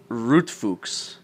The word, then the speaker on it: Rotfuchs: But I've never seen 3 balls, and that's Pronounce it the German way, Rotfuchs.